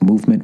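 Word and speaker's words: MVMT: last one thank Christ movement watches MV MT watches pronounced movement was founded on the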